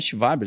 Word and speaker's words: Schwab: Esse termo foi inventado por um cara chamado Klaus, se escreve Schwab, né? Mas em alemão é Schwab, já que ele é alemão.